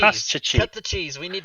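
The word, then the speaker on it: Kostchtchie: It's Koshchiki. We're gonna How do I say that? cut the cheese. Koshchiki.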